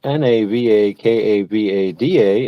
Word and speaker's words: Navakavada: That's Navakavada. It's spelled just like it sounds.